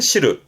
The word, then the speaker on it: 汁: 혼자 두면 발음은 시르는, 그렇죠. 들어보셨죠? 국물. 그 국물을 싫어하는데, 그래서 된장국이, 그렇죠. 미소시르. 그 된장국, 미소시르의 시루가 이 한자, 즙이나 국물을 말하는 시르.